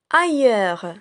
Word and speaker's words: ailleurs: Ailleurs. Ailleurs. Regardez bien, le mot ailleurs renferme le A de la, aille de taille, heure de sœur.